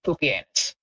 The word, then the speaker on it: Pupienus: But yeah, there's also a Roman emperor whose name is literally pronounced Pupienus.